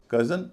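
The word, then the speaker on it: cousin: कज़न और famous, इसमें कज़न नाउन है, फेमस एडजेक्टिव है। तो कज़न जब बोलते हैं तो चूंकि OU शुरुआती हिस्से में है तो उस पर जोर दिया जाएगा, कज़न।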